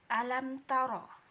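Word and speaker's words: أَلَمْ تَرَ: Izhar itu dibaca jelas. Alam taro. Jadi nggak ada membacanya dengan dengung alam taro. Nggak boleh kayak gitu ya. Jadi cara membacanya langsung aja jelas gitu.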